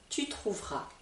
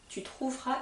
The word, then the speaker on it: tu trouveras: trouvera trouvera trouvera trouvera le S ici ne se prononce pas je trouverai je trouverai une solution adaptée à ton problème tu trouveras tu trouveras une surprise en rentrant